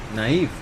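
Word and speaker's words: naive: एंड आई was very नेव at that point. नाइव. या sorry नाइव, थोड़ा सर्दी वगैरह प्रोनाउंसिएशन भी प्रॉब्लम है.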